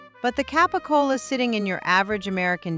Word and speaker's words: capicola: Number six, capicola, or as a certain television crime family famously pronounced it, gabagool.